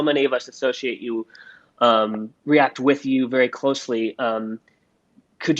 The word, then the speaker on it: React: The original name for React was F-Bolt.